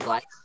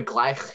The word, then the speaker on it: gleich: So any other notes for gleich, schaltung? Yeah, Ria? The E-I. E-I, yep. E-I making the I sound, glide.